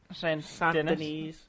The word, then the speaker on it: Saint Denis: Saint Denis.